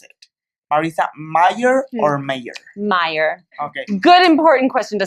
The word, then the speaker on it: Meyer: important question, and it is, how do you pronounce it? Marissa Meyer or Meyer? Meyer.